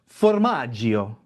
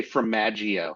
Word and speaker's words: Formaggio: Formaggio. Formaggio. I've heard you speak German. I'm going to say Fromaggio. Oh my God. Oh. It rhymes with DiMaggio, the baseball player.